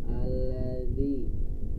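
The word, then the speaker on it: الذي: Seperti contohnya alladzi, ya alladzi, alladzi, jangan tapi alladzi, ya alladzi, langsung dilepas, ya.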